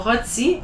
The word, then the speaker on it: rôti: It doesn't change the pronunciation, but it does emphasize a bit more on the O. So rôti, hôpital.